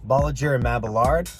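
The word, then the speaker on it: Bolliger & Mabillard: So I noticed that you're trying to pronounce B&M, so the full pronunciation is technically Bolliger and Mabillard.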